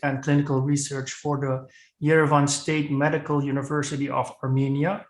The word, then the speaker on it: Yerevan: something yeah yes yes mostly it's it's yerevan haibusaki university not yvonne state but that's okay okay